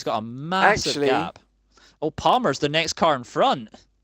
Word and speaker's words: Palmer: Oh, Palmer. Pronunciation. Palmer now. Farmer. Palmer the farmer.